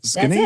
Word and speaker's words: Skenazy: But Lenore Skenazy, how do I get That's it. Skenazy. That's it. Lenore it. Skenazy.